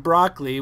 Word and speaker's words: Brockley: pronunciation rabbit hole but now you said broccoli which is fine and then he said if it was the vegetable will be broccoli but I don't know